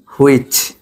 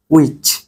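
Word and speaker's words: which: না এটা কি হবে উইচ উইচ ঠিক আছে কারণ ডব্লিউ এইচ এর পর এইচ বাদ পাশাপাশি ডব্লিউ এইচ থাকলে এইচ এর উচ্চারণ হয় না এইচ বাদ ডব্লিউ এইচ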